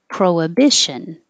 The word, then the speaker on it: prohibition: think ah a lotties prohibition i know there's an h in there and if you say prohibition that's totally fine it's correct um i just believe most native speakers are going to be a little more lazy and skip over the age proa pro prohibition and